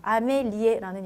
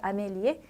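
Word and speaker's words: Amélie: 때는 어떻게 읽으시면 되냐면 모음 다음에 붙어있는 이는 발음이 없어요. 발음하지 않아요. 그렇기 때문에 앞에 여기까지만 읽어주시면 되세요. 자, 읽어보실까요? 그래서 아메리까지 읽어주시면 돼요. 아메리. 자, 액센트 있으니까 에요. 자, 뒤에 거는 모음 다음에 붙은 거라서 발음이 없어요. 그래서 아멜리. 아멜리의 아니고 프랑스 이름, 여자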